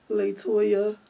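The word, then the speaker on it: La'Toya: don't forget toyah so what is the correct pronunciation of your name latoya latoya little okay how how do you spell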